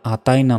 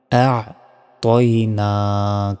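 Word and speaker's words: أَعْطَيْنَا: আবার প্রথম আয়াতেও ভুল উচ্চারণ করে বলি যে ইন্না আতায়না। দেখুন, আতায়না নয় কিন্তু, আ'তাইনা কাল, এভাবে বলবেন।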